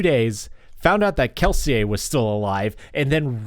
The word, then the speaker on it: Kelsier: that's awesome and also I cannot believe you pronounced that guy's name keler yep yep I've said